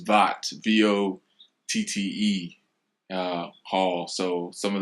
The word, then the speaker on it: Votte: It's not Vote. A lot of people mispronounce the name, so this is the correct way. It's Votte, VOTTE Hall.